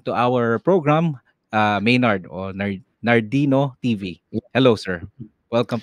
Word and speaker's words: Nhardino: Sir, paano palang pinopronounce yung pangalan mo sa YouTube? Nardino, Nardino, Nardino yeah.